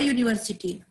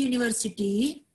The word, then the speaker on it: university: An uncle but a university. The U at the beginning of the university sounds like you, yeah, okay, so that we can use a article for university.